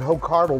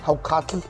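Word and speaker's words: hákarl: and rotting shark Oh people call it hope Carville but it's actually pronounced how cocky and that was vile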